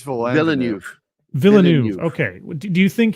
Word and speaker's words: Villeneuve: And So do you think it was Denis Villeneuve? I can never say his name correctly. How do you say it? I think it's Villeneuve.